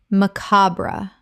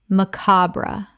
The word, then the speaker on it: macabre: paparazzi paparazzi Word 140 macabre Common mispronunciation macabra Correct pronunciation macabra Three syllables with the stress on the second. The final e is sometimes silent.